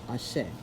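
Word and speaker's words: Ache: The Yoruba word is Ashe, A-C-H-E, pronounced Ashe.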